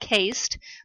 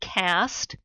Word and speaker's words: caste: the caste, and yes, I know it looks like it's supposed to be pronounced caste, but it is called caste, and then the class type of social stratification.